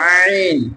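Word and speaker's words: عين: দিতে হয় যদি চাপ না দিয়ে হামজার মত উচ্চারণ করি তাহলে অর্থ পাল্টে যেতে পারে এজন্য আমরা চাপ দিয়ে পড়বো সবাই বলেন আইন আইন আইন আইন আইন আইন আইনের মাখরাজ কোনটা অলকের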